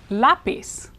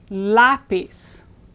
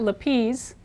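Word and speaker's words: lápiz: voice in this word lapis it's not lapiz because the accent is here lapis lapis the Z in Spanish is pronounced as an s in Latin America lapis so we have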